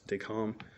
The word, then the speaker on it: Decamps: uh usfd calm it's it's spelled decamps but it's the lovely french so it's they calm um so what was